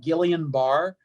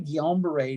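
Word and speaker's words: Guillain-Barré: incorrectly they pronounce it gillian bar so if you're listening to this you go oh yeah gillian barr it's it's actually guillain-barre named after two frenchmen and it's basically it's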